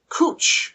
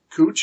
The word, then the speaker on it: cwtch: is also the word cooch cwtch pronounced cooch as in Uchi woi